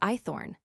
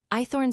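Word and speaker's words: Hoythorne: My name's Eythorn. What? I asked. Ithorn, sir. Eythorn. Spell it.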